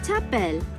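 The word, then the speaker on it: t'appelles: your name okay tapel come on again i'll repeat that again the first one come on ta bell come on to top bell the s here is silent to tapel come on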